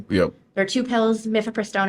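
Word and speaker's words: mifepristone: there are two pills mifiprestone and misoprostol um or Maison I've heard it pronounced a number of different ways um and you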